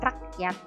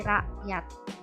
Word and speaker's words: rakyat: Bunyi hamzah ini biasanya huruf K-nya tidak diucapkan secara jelas, seperti kata rakyat, bukan rakyat tapi rakyat.